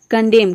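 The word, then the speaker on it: condemn: तो इन सभी वर्ड में देख रहे हैं वर्ड के लास्ट में ही आता है एम एन, एम एन, एम एन। तो यहाँ पे एन जो है साइलेंट है, केवल हम एम को प्रोनाउंस करते हैं।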